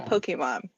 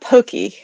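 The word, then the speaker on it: Pokémon: that so I'm aware it is not Pokey yeah pokey pokey poke Pokemon that's right it's a poke but I've got a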